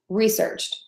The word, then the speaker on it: researched: the word is research so we have research and then we have researched the only thing that's different about that is that I'm adding one more sound for that edie ending I'm also having